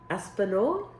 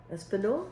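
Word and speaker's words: espagnole: don't know but it's e s p a oh e-s-p-a-g-n-o-l and o l e I don't think the the G is you don't hear the G so it's I I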